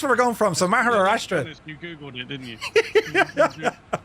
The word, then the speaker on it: Maharashtra: So, you're departing out of Pune in a place called Maharashtra in India. Jess, I did well with that pronunciation, didn't I?